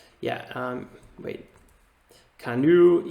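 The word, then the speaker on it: Canoo: right yeah um wait canoe here it is c-a-n-o-o this is an ev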